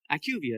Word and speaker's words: IQVIA: No one can ever pronounce it. That's okay. That's why I spelled it out. That's all right. Ivia is what they call themselves. It's a Fortune 500.